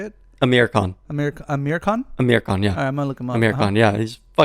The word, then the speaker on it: Amir Khan: Amir Khan.